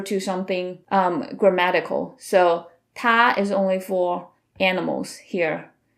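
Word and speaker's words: 他: They all share the same pronunciation. Ta, even though the characters are different.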